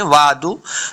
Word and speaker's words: وعد: ہے، ہاذل وعد، وعد، عین کو تلفظ کے ساتھ پڑھنا ہے، بعض لوگ پڑھتے ہیں وعد تو یہ غلطی ہے، عین کا ساؤنڈ آنا چاہیے، وعد، دو نہیں ہوتا بلکہ وعد، دال پیش دو، عربی